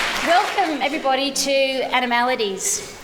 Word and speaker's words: Animaladies: welcome everybody to animalities at least that's how I pronounce it animalities um I'd like to